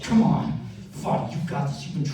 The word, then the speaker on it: Fadi: Fadi, F-A-D-I.